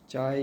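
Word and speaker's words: chi: Epsilon zero electric permittivity है और यह सिंबल जो है यह डाईइलेक्टिक की कैरेक्टरिस्टिक है और उसको प्रोनाउंस किया जाता है चाय ई चाय सी एच आई चाय और उसको इलेक्ट्रिक ससेप्टिबिलिटी कहा जाता है।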